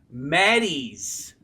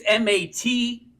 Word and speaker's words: Mattes: Mattis. Mattis. There we go. It's Mattes.